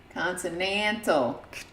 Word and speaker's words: consonantal: we have to find a system for assigning consonantal glyphs to the digits one through seven what's that word consonant oh how is that how's it pronounced consonantal we looked it up it's continental according to